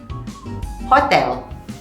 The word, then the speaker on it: hotel: people love hohoho in spanish h is completely silent for example hotel hotel hotel in spanish double